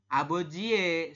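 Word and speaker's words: 아버지의: ya tulisannya aboji shinbal kita membacanya Bukan aboji tapi aboji abojie seperti itu ya kalau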